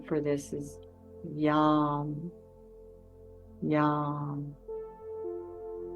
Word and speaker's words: Yam: And the Sanskrit name for this is Yam. Yam. I like to think of it as yum. They actually even pronounce it more like yum.